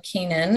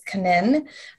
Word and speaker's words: Canin: um royal canin or royal canaan is how we americans say it but it's a french company so it's kanin um and then hill's